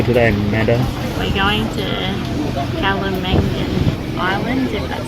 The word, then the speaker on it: Kalanggaman: Things you need to know before you go to Kalanggaman Island.